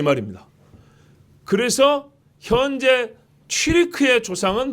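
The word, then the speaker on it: Türk: 흉노족 중에 후예가 돌궐인데 이 돌궐의 발음이 튀르크입니다. 우리는 항상 번역을 부드럽게 한다고 그랬죠? 보죠. 디귿, 기역, 티읕, 키읔, 그죠? 돌궐, 튀르크.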